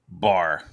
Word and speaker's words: Baher: This is my normal Wednesday chat, 7 Eastern Standard Time, and I'm here with Bear. Did I say your name right? Bar. Yes, great.